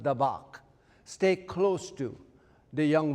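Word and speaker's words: דָּבַק: is pronounced dabbach.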